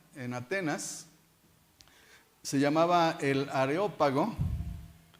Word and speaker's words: Areópago: bien sé que yo de niño pronunciaba aerópago pensando que era ya está decía y aquí se equivocaron porque debe ser de aeropuerto no no no no areópago porque era del dios ares dedicada a a marte